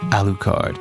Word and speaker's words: Alucard: know again I I don't speak um it's pronounced alukard you know it's funny though talking about alukard